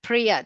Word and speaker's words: Priya: So that's why I shortened my first name, Priya, 2 syllables.